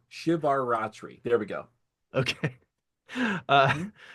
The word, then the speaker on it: Shivaratri: The it is maha uh shivar shivar ratri shivar ratri.